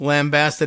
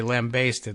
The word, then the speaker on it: lambasted: It's both lambasted and lambasted. I guess in America we say lambasted, like you basted the lamb as you were cooking it.